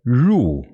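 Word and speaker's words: 入: Para pronunciar esse caractere de entrada é ru. Ru. Puxa a língua para trás, igual quando a gente pronuncia porta, né? Porta com sotaque do interior de São Paulo, dá essa enroladinha na língua e pronuncia ru.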